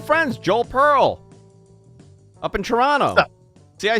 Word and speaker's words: Toronto: tea it's fine you can call it Toronto I will never say the tea Joel don't ever make